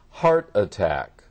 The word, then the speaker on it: heart attack: you would remember that when we have two nouns together the first noun has the special accent heart attack heart attack right all right let's